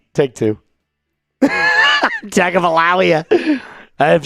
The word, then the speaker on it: Tagovailoa: I said this name wrong. Oh, God. All right, take two. Tagovailoa. I've said Tua. All right. Let's do it. Tua Tagovailoa.